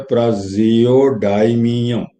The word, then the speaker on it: praseodymium: इसको बोलते हैं प्राजियोडाइमियम, स्पेलिंग है PRASEODYMIUM, प्राजियोडाइमियम।